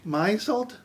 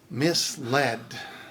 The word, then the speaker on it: misled: biopic biopic infrared infrared albite albeit ari arai maisalt misled and there we have it and if you